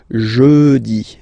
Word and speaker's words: jeudi: Remember, when you combine this U, you get the sound jeudi. Jeudi. So I insist a little bit, so make it softer.